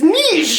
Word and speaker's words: niche: you go to France it is Niche it is absolutely that's what I think about too like it's a French word so if they're saying it one way that is how it is pronounced and it's like you